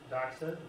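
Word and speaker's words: δόξα: The Greek word is doxa. Voxa. Doxa is how they would have pronounced it.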